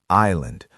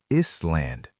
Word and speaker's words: island: Next word, island. A lot of people pronounce the s is land, but the correct way is island. Again, that s is silent, completely gone, vanished into thin air.